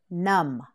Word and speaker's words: numb: nudge num-num-num you tread numb that's right the beyond the end is silent numb say it one more